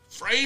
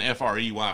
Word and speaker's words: Frey: Frey Ranch. I think I heard it was supposed to be Fry Ranch, but, like, if you're pronouncing Frey, Fry, I'm just not on board with that.